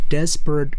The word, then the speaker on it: desperate: 자, 그래서 Desperate이라고 읽으면 안 됩니다. Desperate 앞에 강세가 있어요. Desperate Women.